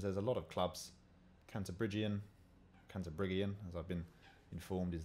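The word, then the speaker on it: Cantabrigian: Canterbriggian, as I've been informed is the way to pronounce it.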